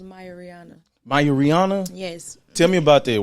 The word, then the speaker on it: Mia Reona: gentlemen we have none other than the talented Rihanna you dig what I'm saying yes Lord yes it's actually pronounced Maya Rihanna yes tell me about that why is that